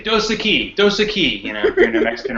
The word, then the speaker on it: Dos Equis: Now, how do you pronounce Dosaki? Dos Equis. Sounds like a southern thing. You say Dos Equis.